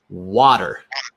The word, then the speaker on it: water: That's number one in American English. We would say water. Water. So, you'll notice I'm using the A sound we just talked about.